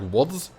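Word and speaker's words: Łódź: a dash through it, I think it's pronounced more like a W? Like, for example, the town Lodz isn't pronounced Lodz then. It's more, would be more pronounced like Wodz.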